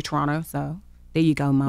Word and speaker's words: Toronto: I always say that like that because I usually say Toronto. And she says I'm not supposed to say it like that. Yeah, you're not supposed Toronto. To pronounce yeah, both yeah. T's, I found out.